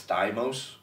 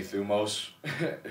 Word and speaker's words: thumos: a greek word and i'm actually saying it the way that i say it a lot of greeks would say that i'm saying it wrong i believe it's thymos oh yeah but i just say thumos so but but what